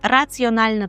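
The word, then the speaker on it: racjonalna: Е, щодо слова інтелігентна, пам'ятаємо, що це розумна і раціональна. Тут ми розуміємо, це є раціональна. Єдине, при вимові цього прикметника звертайте увагу на вимову. Раціональна має бути ось така роздільна вимова.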